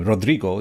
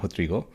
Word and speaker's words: Rodrigo: Rodrigo Lopez Cansado Fonseca, who in the community we know as Rodrigo. That's the Portuguese pronunciation of his name. Some might call him Rodrigo. That's the more Spanishized pronunciation, but I'll try to use the correct Portuguese pronunciation, Rodrigo.